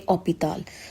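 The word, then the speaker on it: hôpital: For example, in English we say hospital, but in French we say opital.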